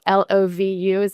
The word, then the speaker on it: LovU: It's actually LovU, but, Okay. I mean, I think that probably a lot of people also say that, and it's probably endearing, but, LovU is how they would pronounce it.